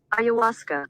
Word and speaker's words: ayahuasca: ayahuasca ayahuasca okay ayuska ayahuasca one more time ayahuasca all right that's how it's pronounced all right let's talk about it shout